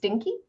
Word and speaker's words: DKNY: DKNY, pronounced dinky.